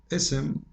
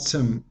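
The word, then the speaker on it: اسم: Ism, the name, not sim, because if we take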